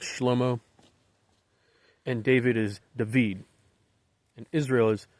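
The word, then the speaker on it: Shlomo: Israel okay now in Hebrew Solomon is often pronounced schlomo and David is David and Israel is Israel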